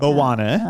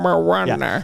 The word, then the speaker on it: Moana: I say it like that because that's how the grandma says her name in the movie. Moana. Moana.